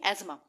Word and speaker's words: asthma: जिसको हम बोलते हैं एजमा। अस्थमा नहीं बोलेंगे, एजमा बोलेंगे। ठीक है, चाहे आप इसको एक बार गूगल पे प्रोनाउंस करके देख लेना। ठीक है, तो वहाँ पे एजमा ही बोलेंगे वो।